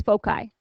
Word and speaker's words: foci: Those points are called our foci, and the British pronunciation of that is foci. So you'll hear it either way.